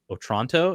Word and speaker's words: Otranto: We will be doing the Castle of Otranto.